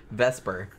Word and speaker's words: Vesper: right yeah um and not vesa like motorcycle no Vesper okay I actually knew a person in real life named that they're British so they're not really pronouncing the R I guess strongly enough I just thought she vesa that no it's veser that means wasp in in Italian so I thought that's